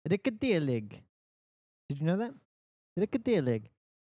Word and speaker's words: Rekorderlig: They basically said it like rekorderlig. Um, But did you know that's actually not how it is meant to be pronounced? The Swedish word, I don't know if that's how you meant to pronounce Swedish. Swedish? It is actually pronounced rikadelig.